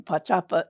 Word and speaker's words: Pá'Čapa: So Pa is water, and then Pá'Čapa is like where it bends, like an elbow, like it bends.